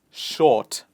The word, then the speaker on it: short: For example, in the word short, we do not pronounce the R sound. So we can say no R sound. Example is short.